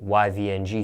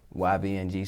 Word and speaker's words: Yvng: it's now of course you're young the name young for your stage name is spelled differently than most people yeah sometimes there's